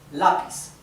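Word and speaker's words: lápiz: then lapis means pencil lapis this is the Spanish word for pencil you separate it like this La P okay lapis so it's grav right because the accent is in la la now how do we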